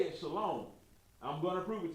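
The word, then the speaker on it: שלום: It's going to be Shalom. Shalom. Now, how are we getting that long O sound out of that saying Shalom? It's spelled Shalom, but how do we get the long O out of it?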